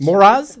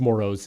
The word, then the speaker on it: Moraz: Moraz, that's my name, baby, Moraz. So I'm all about it. It's actually not how it's pronounced. It's pronounced Moros. If you're listening, please don't make the mistake.